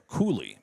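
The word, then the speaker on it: Koele: Cole, K O E L E, is actually Koolie, pronounced as that kick is up and no good.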